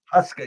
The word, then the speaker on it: Huska: I pronounce his name, but I think it's Huska or for New York. We have a goalie. Is that right? A UConn graduate, by the way. Is that how you pronounce it? Huska, yeah.